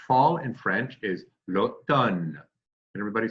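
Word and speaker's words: automne: day which is summer float done remember like ton of bricks we want to get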